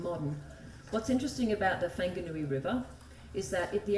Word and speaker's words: Whanganui: scary but anyway um this river is actually pronounced the whanganui river I just want to explain to you